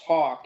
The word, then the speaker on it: Hauk: Like, so my name's Hawk, and that's how it's pronounced, but it's actually Hauk.